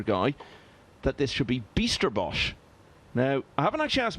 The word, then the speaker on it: Bijsterbosch: But he definitely said to me it is not Bijsterbosch or Bijsterbosch, it's Bijsterbosch.